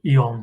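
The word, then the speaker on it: AEON: Yeah, we pronounce it Ion here.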